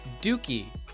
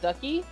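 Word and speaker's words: Dukey: Dookie. Oh, it's pronounced Dookie, not Ducky?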